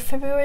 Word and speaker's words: February: did you know that the word February is the most misspelled word in the English language it's hard to spell it's hard to spell it correctly since the first R is not usually pronounced there are there's a